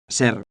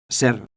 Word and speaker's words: ser: the pronunciation of Ser. is important, don't slur the R.